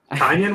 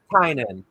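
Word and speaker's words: Tynion: Tinian was it? I believe it's Tynan. I believe it's Tynan, and I think Wes is the one that educated me on that. I can be kind of bad at pronunciations in general, but I'm almost positive it's Tynan.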